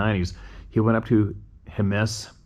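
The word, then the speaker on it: Jemez: back in the 90s he went up to Himes it's spelled j it's spelled Jes but it's pronounced hemus so why didn't they spell it hemus just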